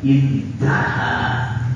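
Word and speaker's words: انتهى: Alif ha itu kalau dibaca intaha, ya, intaha sampai di situ. Biasanya dibaca apa kalau ada tulisan alif ha itu? Oh ya. Bacanya intaha sampai di situ.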